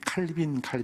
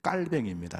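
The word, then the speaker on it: 칼뱅: 그것이 종교개혁의 출발이고 스위스에서는 쯔빙글이라는 분이 그러니까 프랑스에서는 깔뱅이라서 여러분이 칼빈 나는데 깔뱅입니다. 정확한 발음은 그분의 종교개혁으로 종교개혁이 시작이 됐어요.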